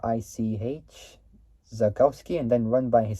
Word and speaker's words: Zakowski: founded in 19 uh 1968 with Eric which is spelled e r I zakowski and then run by his son Peter zos